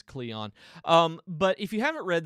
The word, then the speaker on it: Kleon: artist by Austin Kleon I think that's how he pronounces his name is Cleon but if you haven't